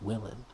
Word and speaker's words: Wheelin': Wheelin'. It's written Wheelin', but it's pronounced Willin'.